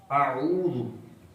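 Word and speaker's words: أعوذ: تلفظ کیا ہے؟ اعوذ. یہ الف علیحدہ ہے، اس کے اوپر زبر ہے.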